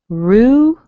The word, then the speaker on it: Ruben: We're going to make a strong ru, and notice what happens to the E in the B-E-N. Ruben.